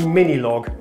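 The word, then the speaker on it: Minilogue: just invented a synthesizer apparently it's pronounced log as well this is the mini log what was I saying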